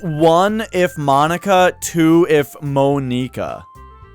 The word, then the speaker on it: Monika: are all japanese names so this one you would think would be pronounced the japanese way which would be monica say it like it's spelled well again with japanese it would be like monika but that sounds for